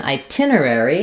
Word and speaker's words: itinerary: Um, so in itinerary, it's similar to hotel. The tin syllable is stress. So we have a true T here. Um, but we have some secondary stress on I.